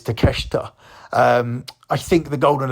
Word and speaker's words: Takeshita: a is how his name is spelled but it's takeshita um I think the